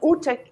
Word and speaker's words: Ute: I mean, Ute rhymes with pute, with rute, and these are not so nice words.